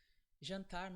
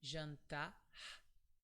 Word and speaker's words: jantar: In Brazil, some people would pronounce this R like an H sound, so it would be jantar. The final sound is very soft from your throat, just like h, jantar. But some other people would pronounce it like r, so jantar.